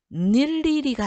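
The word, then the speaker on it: 늴리리: 다만 의라는 이중모음이 자음을 첫소리로 가지고 있을 때 그 음절의 의는 이로 발음한다. 자, 그러면 자, 닐리리가 아니에요.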